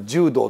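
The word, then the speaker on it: 従道: の最後をつくつぐ道なんか柔道と読む読むのが正しいという説もあるんだけど最後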